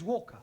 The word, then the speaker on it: Walker: at Mrs vka Walker what w is pronounced W your employer's name is Walker yeah Walker do you